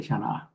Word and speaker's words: Shaaníʼaah: Oh, Karina, you just have to say Shaaní'aah.